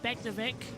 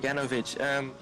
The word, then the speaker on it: Beganovic: to Mini as Begnovic and is it Beganovic is what you've been saying, isn't it? Is that the Dutch pronunciation for it? Beganovic. Well, that's what I heard when I was listening to Formula Regional. I will go with Beganovic then as well. I went with Begnovic, but I'll go with Beganovic as well.